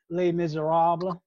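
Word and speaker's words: Les Misérables: southern way of talking like the french don't pronounce the s at the end of a word like in les miserables two s's no sound do tell oh you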